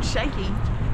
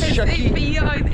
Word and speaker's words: Sheki: It's not called Sheki. No, I keep saying Sheki. It's Sheki. It's Sheki. Sheki.